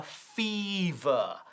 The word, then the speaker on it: fever: And a fever. A fever. Fíjate en la pronunciación de esto también. Fever. Este primer sonido es muy larga. Fever, not fever.